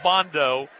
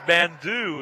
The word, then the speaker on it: Bandu: They call him Bondo. It's Bandu is the actual pronunciation.